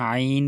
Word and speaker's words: عين: আমরা যখন আইন বলবো গলার ভিতরে নেব, হ্যাঁ, কণ্ঠনালীর মাঝখান থেকে উচ্চারিত হয় আইন।